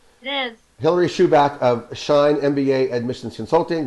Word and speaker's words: Schubach: hillary uh hillary it's helped me out it's pronounced chewbacc right it is hilary shoeback of shine mba admissions consulting which you can